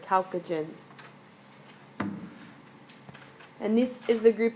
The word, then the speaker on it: chalcogen: to a group called the chalcogen the chalcogen so that's how you pronounce that word chalcogen and this is the